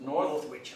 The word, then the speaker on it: Northwich: Northwich.